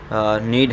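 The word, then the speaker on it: know: में L silent है नो की बात करेंगे के और डब्लू साइलेंट है अगर हम इस स्टेनोग्राफी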